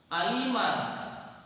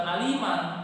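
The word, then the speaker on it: عليما: Aliman di situ apa huruf yang berharokat fathah tanwin? Yaitu huruf mim. Mim di situ berharokat fathah tanwin, kemudian mim di situ terletak di akhir ayat. Kemudian di akhir ayat ada alif, diwaqafkan lagi, maka cara membacanya bukan aliman tetapi alima, 2 harokat.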